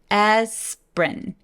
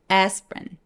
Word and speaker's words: aspirin: 쟤도 모음이 하나, 둘, 세 개인데 중간에 있는 I를 삭제시켜버려요. 보통 보니까 중간에 있는 모음들이 많이 없어지게 되죠. 자, 그래서 aspirin. P 위에서 R로 바로 넘어갑니다. 같이 발음해 볼게요. aspirin.